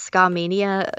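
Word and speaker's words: Skamania: Yeah, it was actually in the, I believe it's pronounced Ska-mania campgrounds or something like that.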